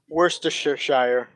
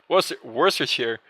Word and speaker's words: Worcestershire: Yeah, well, it's just that Worcestershire, like this pronunciation, makes me think like it's kind of like the worst kind of shire or something.